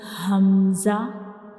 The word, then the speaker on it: hamza: And how we pronounce hamza? Like ha, we will read hamza, we pronounce hamza from the bottom of the throat.